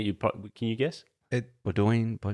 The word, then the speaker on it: Bodonyi: No, you pronounce it all. It's not like Greek or something, Bodonyi. I will tell you, but it's one that you probably can you guess? Bodonyi. It's Bodonyi. Yeah, Bodonyi.